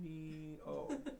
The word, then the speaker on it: Cuneo: how do you spell Cuneo? U, so ku, N, Cuneo. I'll just say it into the microphone thing. Cuneo. It's gonna be like Ueno.